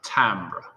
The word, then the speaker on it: timbre: now the word timbre imagine that i is an a that's how we pronounce it timbre it is the unique